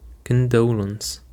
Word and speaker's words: condolence: And the first word that we have today is condolence. Condolence. Um the stress actually is on the second syllable.